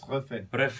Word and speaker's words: Refet: Yes, Refet.